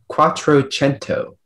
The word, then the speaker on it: quattrocento: cuatro gento can you repeat the word yes cuatrocento can i have the language of origin cuatrocento